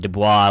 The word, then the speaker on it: Dubois: same last name, and I would pronounce it Dubois, which is the French pronunciation, and they would correct me and get angry and say it was Du Bois, which is pretty much an incorrect English translation or pronunciation.